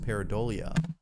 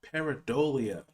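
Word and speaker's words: pareidolia: say it could simply be a case of peridolia peridolia that's how you pronounce that word I was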